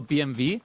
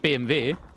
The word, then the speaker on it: BMW: I feel like how is it pronounced BMW or BMV? Because in German with the alphabet, it's not pronounced W, it's V. Oh yeah, we call it BMV.